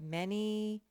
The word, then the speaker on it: many: That's the tricky one where the A makes the eh sound. Any. Makes no sense, but that's how we say it.